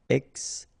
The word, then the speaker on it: extinction: Okay, remember, T-I-O-N, sion. Extinction.